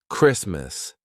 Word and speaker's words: Christmas: Also, when the T is in between two consonants, except for the letter R. All right. So, for example, Christmas. The T is in between two consonants S and M.